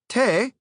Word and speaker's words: te: Te is pronounced like T, and is used in place of to in speech.